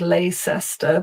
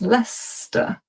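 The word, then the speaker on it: Leicester: Lester causes all kinds of problems because it looks like Leester, but it's not. It's Lester.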